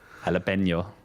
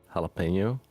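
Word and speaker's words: jalapeño: Jalapeno.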